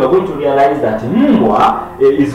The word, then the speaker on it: mbwa: Now this the ma here is pronounced inside. From within, it is mbwa.